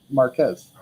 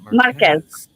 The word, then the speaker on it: Marquez: The QU is a K sound, not a Q. Marquez. Marquez.